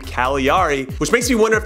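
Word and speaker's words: Cagliari: it's the team that has a silent G in its name Kali re which makes me wonder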